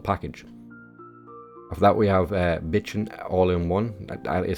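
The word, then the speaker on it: Bijin: After that we have Bitchin' All-in-One. That is how it is pronounced apparently.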